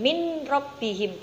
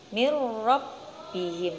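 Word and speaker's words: مِن رَبِّهِم: sukun bertemu dengan roh cara membacanya yaitu dimasukkan munculnya bukan min rabbihim bukan seperti itu tapi ni robbihim mirrobbihim seperti itu ya selanjutnya contoh yang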